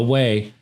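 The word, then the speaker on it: OUAI: th e o u a i dot com pronounce the way and use code believe b-l-e-a-v to get 15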